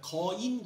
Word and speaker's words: 지오인: 아 , " 지오인 " 군단 이니 발음 에 주의 하세요 . 그건 거대 한 " 자이언트 " 가 아니라 " 지오인 " 군단 이야 .